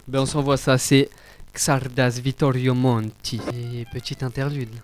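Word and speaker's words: Csárdás: mais c'est Xarda Xardas.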